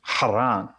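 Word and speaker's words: חרן: The Hebrew name for Haran is Haran. It is spelled Het, Resh, Nun.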